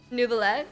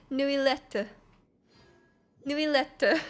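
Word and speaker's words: Neuvillette: I expected so like I just was calling him nubilee you know but it's actually new letter that's what it is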